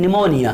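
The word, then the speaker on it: pneumonia: तो निमोनिया को कहाँ से लिखेंगे आप, पी से लिखेंगे। किस से लिखेंगे, पी से स्टार्ट होगा, तो वहाँ पे भी पी साइलेंट है, पी की आवाज़ नहीं आती।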